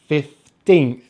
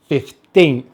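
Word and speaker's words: fifteenth: Make sure to stress the second syllable, 15th, 15th, 15th.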